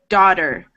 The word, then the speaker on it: daughter: And then if I pronounce this naturally, not so slowly, daughter, naughty, slaughter, the T turns into a D sound.